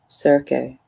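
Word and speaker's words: Circe: niece of the sorceress serkey or cersei i don't know or kirke i think it's supposed to is supposed to be pronounced kirke perhaps most importantly she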